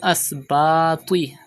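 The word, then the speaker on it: الأسباط: Wal Asbati. Pronounce Ta with thicker voice because it is also from Mustaliya letters.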